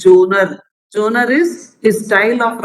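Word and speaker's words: genre: editor and his jonah this word has to be read like that not general or something g e n r e so that is pronunciation is jonah jonah is his style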